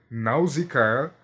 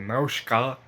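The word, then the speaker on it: Nausicaä: É, existe mais de uma maneira correta de se pronunciar esse nome. Por quê? é um nome grego falado em um anime japonês e a gente lê a maneira como se escreve ele no português.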